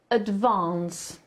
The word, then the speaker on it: advance: INT thank you in Advance Uwaga na Akcent Vans akcentujemy na Vans OK powiedz wąs wąs